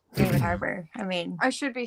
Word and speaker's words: Harbour: David Harbour. Is that how you pronounce his last name?